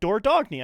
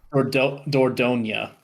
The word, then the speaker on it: Dordogne: googling the pronunciation. Yeah, Dordogne.